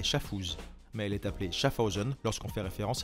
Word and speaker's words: Schaffhausen: souvent débat iwc schaffhausen schaffhausen se prononce avec une sonorité alémanique schaffhausen c'est le non suisse